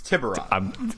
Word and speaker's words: Tiburon: There's many pronunciations. No, there's not. It's one. It's Tiburon.